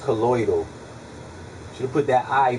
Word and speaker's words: colloidal: spelled it wrong that's how everybody like to pronounce it collodial silver but it's colloidal should have put that I before the D